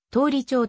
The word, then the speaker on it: 通町: は通り町駅あるいは通りちゃう役とのひらがな表記が見られる現在の仙台市では通町に表記が統一されており通りちょうと読むのが一般的である通り懲役は 1922